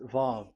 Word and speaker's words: Vav: Vav. So it's V as in Vogue. So it's really V. How to read Vogue? So the word, the shape Vav is really pronounced V, like Vogue. That is it, pronunciation. So here in this side, it's pronunciation. This is pronunciation. So according to the old Hebrew word today, those who the owner of the word, I mean, so it's a V. So don't change it into W, and you will say that